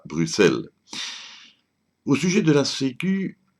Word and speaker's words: Bruxelles: que l'on ne dit pas Bruxelles mais bien Bruxelles et ce malgré le X la prononciation Bruxelles prenant d'une erreur de retranscription de